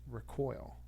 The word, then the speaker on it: recoil: form of it it's recoil so you're putting the emphasis on the second syllable so the verb it